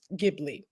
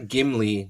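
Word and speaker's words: Ghibli: perfect all right for the record it is pronounced gibli yes it is GI Okay g is G not gimly not the dwarf no not the dwarf G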